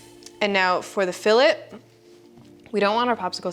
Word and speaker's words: fillet: So now you have filleted your bottom centering ring and your top centering ring. And yes, I know it's pronounced fillet, but filt is more fun.